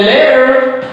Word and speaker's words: letter: Now here I'm talking about the American accent when there is double T. So one T is silent and when T is in the middle of two vowel sound, so we pronounce with a fast the sound.